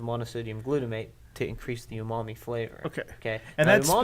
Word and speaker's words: umami: a savory flavor profile it's they call that umami um okay so it's a savory flavor profile